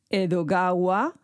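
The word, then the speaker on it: 江戸川: atención ahí porque es la manera de pronunciar Edgar alano en japonés edogawa Edgar en japonés ran o Lan Alan Po po y también reconoció haber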